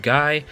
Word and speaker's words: Guy: and then we have guy even though his name is pronounced ghee apparently at least according to